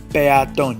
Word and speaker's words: peatón: Hiato is when we have 2 open vowels together. Caos, caos. Pea, peatón. You can clearly hear the syllables. Peatón. It's not like piano. Peatón.